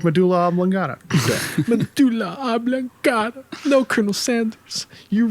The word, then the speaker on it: medulla oblongata: think they even say medjula a legata in the movie and i'm like no that's not how you say it you gotta say it like medulla oblongata god no colonel sanders